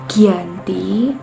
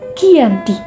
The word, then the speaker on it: Giyanti: penandatanganan perjanjian ini yaitu di desa Janti dalam pelafalan Belanda disebut Giyanti tempat tersebut sekarang dikenal